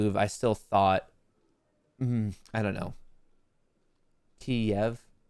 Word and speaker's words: Kiev: Kiev. Oh, am I pronouncing it wrong? It's Kiev. Kiev is how you say it. K-E-E-V.